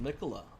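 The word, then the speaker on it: Miquella: Oh, it's pronounced Mikola.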